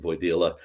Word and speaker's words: Wojdila: One of my most interesting customers, a guy named Henry Wojdila, who can pronounce his name, Voidila.